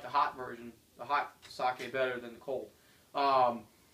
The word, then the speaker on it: sake: Pronounced it right. I used I started saying it's sakai. That's wrong. Don't say it's not like Eugi Sakai. It's sake.